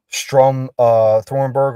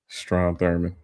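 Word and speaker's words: Strom Thurmond: passed they stayed Democrats all but two uh Strum uh Thornberg or however you pronounce his name. Stro Thurman.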